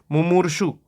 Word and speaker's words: मुमूर्षु: अगला प्रश्न है, जो मरने का इच्छुक हो, मुमुक्षु, इच्छा, तो इच्छा जब आएगा, मुमुक्षु मतलब मोक्ष का इच्छुक, सॉरी मुमूर्षु, ठीक है, तो मुमूर्षु मतलब जो मरने का